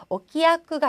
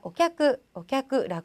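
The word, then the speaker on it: お客: 그리고 오키야크가 아니라 오캬크라고 해서 자, 한 글자로 발음해 줬습니다.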